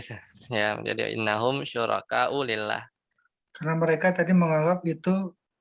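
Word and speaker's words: لله: Nah, itu nggak ada alifnya tuh. Jadi lillah bacanya. Syuraka lillah.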